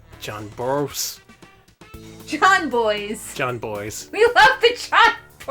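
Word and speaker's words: Jon Bois: Please nobody clip me mispronouncing John Boyce's name and send it to him being like, lol, look at this, because that is like... John Bois, John Boyce, John Boys.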